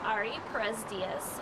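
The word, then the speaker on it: Ari Perez Diez: My name's Ari Perez Diaz. It's spelled A-R-I-P-E-R-E-Z-D-I-E-Z.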